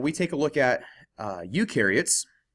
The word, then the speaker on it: eukaryotes: take a look at eukaryotes you rhymes with do so eukaryotes do have